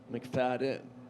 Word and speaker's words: McFadyen: f a d d n how about an m c f a d y e n but you don't pronounce it that way it's not mcfadyen mcfadden joey silas he's the engine pulling the train